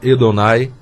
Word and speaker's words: Adonai: que nós chamamos Adonai mas no hebraico o primeiro a tem som de E então a pronúncia seria edon é que essa palavra